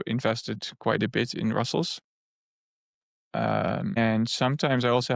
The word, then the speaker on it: Rustls: And so you started working on Russell. That's how you pronounce this, right? Because I was Russell's. Yeah. I'm going to try to do it correctly from now on.